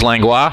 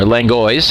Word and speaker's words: Langlois: The umpires today, behind the plate is Steve Toloski, and at first base, Charles Langlois, or Langois, I should say, I think is the correct pronunciation.